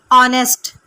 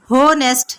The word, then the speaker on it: honest: آر ہمارے friends دوست آر ہیں آنیسٹ. آنیسٹ کہتے ہیں ایماندار کو. سپیلنگ دیکھیے HONEST، لیکن آپ نے اسے ہونیسٹ نہیں کہنا، یہ ہے آنیسٹ. H سائلنٹ ہے، اسے آپ نے نہیں پڑھنا.